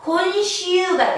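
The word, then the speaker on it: 今週: 우리 자, 금자는 한자 발음으로 읽으면 콘이라고 했죠. 콘. 주는 여러분 슈라고 합니다. 그래서 콘슈가 되면 이번 주가 됩니다. 금주가 됩니다.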